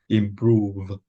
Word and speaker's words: improve: sound though versa improve yeah remember when we have a v a top teeth connect with our lower lip improve improve yeah so you really have to make that friction that air there improve again for me